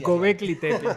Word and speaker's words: Göbekli Tepe: Y de repente luego encontraron el hallazgo que se llama Göbekli Tepe, o no sé cómo se pronuncia. Bien pronunciada, está bien. Así, Göbekli Tepe.